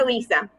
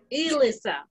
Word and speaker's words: Alyssa: It's Alyssa. Like Lisa with an E at the beginning. Alyssa.